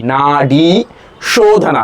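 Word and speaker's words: nadi shodhana: Na long a long e na shodhana shhana means cleansing or purification.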